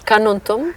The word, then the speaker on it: Carnuntum: familiar with this region car, how should I pronounce? Canon. Canon. Uh uh how can you describe this this area? How does it look like? Yeah, Karnontum is first of all the word is a